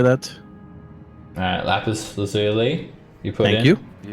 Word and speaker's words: lapis lazuli: lapaz, or how do you say that? Alright, lapis lazuli.